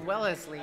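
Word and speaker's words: Wellesley: young just south of wellesly yeah is that how you pronounce it wellesly or Wellsley well fine the locals call it Welsley the locals it's like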